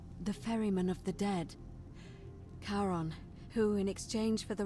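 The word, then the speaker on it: Charon: it's just as you described it only your pronunciation is a little off the name you heard wasn't karen it was kieran c h a r o n as in caron the ferryman of the dead karon who in exchange for the right coin helps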